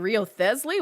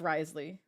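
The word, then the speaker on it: Wriothesley: Cuz I'm like, Riosley? Like, what? How do you say this name? And no, it's Risley. At least in the English one.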